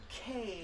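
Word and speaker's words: Kae: Sean and his wife Kay. Yes, K-A-E. Not K-A-Y. K-A-E. This is how you pronounce Yes.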